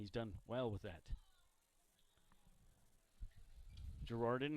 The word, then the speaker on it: Gerarden: Girardin, you never guess how it's spelled. It's Gerarden.